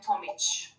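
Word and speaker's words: Tomić: a bit different uh there is a special sign we say so actually would be tomic so yeah like languages you have different ways of pronouncing definitely definitely oh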